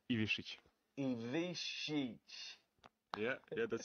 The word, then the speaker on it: Ivišić: Ivišić.